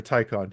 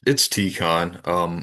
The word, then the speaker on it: Tikhon: Is it Tikhon or Tycon? How do you It's Tikhon. I Tikhon? wouldn't doubt that there's multiple ways to pronounce it, but it's I think I've heard